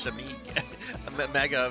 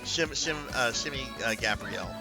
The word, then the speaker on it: Shimmy Gabrielle: Shimmy, I think I said it's Shimmy Mega. I mispronounced that, but it's Shimmy Gabrielle.